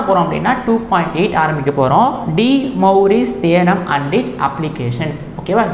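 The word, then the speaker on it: De Moivre: ஆக்சுவலாக எப்படி படிக்கணும் அப்படின்னா, டி மௌ பிஇஆர் இல்லை பிஆர்இ பிஆர்இ மொயின்னு சொல்லக்கூடாது, மொயின்னு சொல்லக்கூடாது, டி Maori okay, French mathematician இது.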